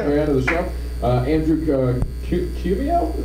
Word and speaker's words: Cuomo: Andrew Cumio? How do you say it? Cuomo.